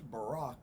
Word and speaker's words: Barak: this in Sunday school, we called him Barak. Of course, we've had a president since then whose name was spelt the same way and pronounced Barack, so I guess you could pronounce it either way.